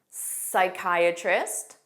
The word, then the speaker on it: psychiatrist: Psychology, psychic, psychiatrist, and pneumonia.